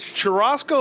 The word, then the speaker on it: churrasco: This is churrasco. Am I pronouncing that correctly?